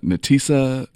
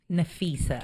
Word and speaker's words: Nafisa: Abby Katoon and Natisa. Nafisa. Nafisa. Look, I just messed up. Oh, that's an F.